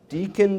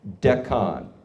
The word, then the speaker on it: Deccan: rock samples from the Deakin traps. Does anybody know this term better than I do? Am I pronouncing that correctly? Deccan? No, Deccan. Accent on the first syllable. Deccan.